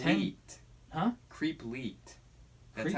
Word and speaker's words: leet: Leet. Huh? Creep Leet. That's Creep how it's Leet.